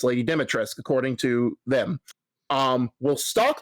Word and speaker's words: Dimitrescu: Resident Evil Village by Lady Dimitrescu, but by the way, the U is silent apparently. It's not Lady Dimitrescu, it's Lady Dimitrescu, according to them.